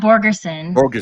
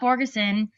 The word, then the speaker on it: Borgerson: No, that's not Scott Bergeron. Scott Borgerson, if I'm pronouncing it right.